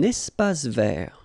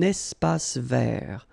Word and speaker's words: espace vert: Un espace vert. First thing, you've got this little link between the two. Un espace vert. Final not pronounced, and then final T not pronounced. Un espace vert.